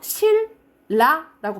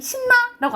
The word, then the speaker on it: 신라: 가보자 칼날로 발음하죠 그렇죠 그리고 이거 실 라라고 발음해요 우리 신나라고 안 하잖아 신라 이런 식으로 발음한게 유하 현상이라고